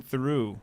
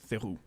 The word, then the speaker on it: Theroux: You should know how to pronounce that. It's not Theroux. It's Theroux.